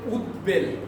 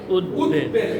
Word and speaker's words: উদ্বেল: এর বাইরে আমরা আরেকটা শিখলাম, যদি বফলাটার আগে ওই শব্দ বা বফলাযুক্ত শব্দটা উদ উপসর্গ বা উদ উপসর্গ যোগে গঠিত হয় তাহলে ওই বয়ের উচ্চারণ বয়ের মতোই থাকবে। যেমন আমরা বলি উদ্বেল কি হবে? উদ্বেল।